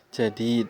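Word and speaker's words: جديد: As-sayyaratul lati kharajat minal mustashfal ana lit-tabibil Jadid ya, jadid bacanya ya.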